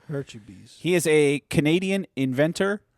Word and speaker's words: Hurtubise: So this is Project Grizzly is the story of Troy Hurtubise, which I said his name wrong last week, but now I know it's Hurtubise. Hurtubise.